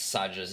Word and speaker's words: Sadja: And of course, Kat gets Sadja's name wrong because Sadja's Iranian, and Kat is a basic white bitch.